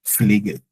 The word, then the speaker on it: Pfleger: Also like the P is not all that silent, but almost silent, but you hear the F more, like Pfleger.